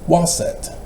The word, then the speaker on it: Waset: That's why they pronounce as Waset.